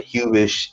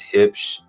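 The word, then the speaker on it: Huebsch: It's German. Don't ask me why. It's not Hubish, it's Hipsch. It is what it is.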